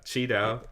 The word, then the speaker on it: QiDao: earn yield with cheeto sorry i keep saying ki because that's how i always uh pronounced it but yeah cheeto it's g names are